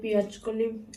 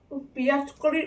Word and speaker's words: পেঁয়াজ কলি: এই পেঁয়াজ কলির উচ্চারণ করতে যে আমার ছোটবেলায় না পেঁয়াজ কালি বলে অভ্যাস, জানো তো ভুল উচ্চারণ করতাম। তো আমাকে সবাই শুধরে দিয়েছে যে না, ওটা পায়ের পেঁয়াজ কলি হবে।